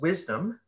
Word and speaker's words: WSDM: at work she founded wsdm pronounced wisdom the salon series and